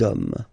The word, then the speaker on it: hommes: You don't pronounce it, so you get des hommes, okay?